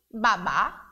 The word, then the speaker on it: babá: palavra é a mesma mas a pronúncia o que a pronúncia diferente por conta do assento ahh mudo e existe na última sílaba da palavra Babá e o baba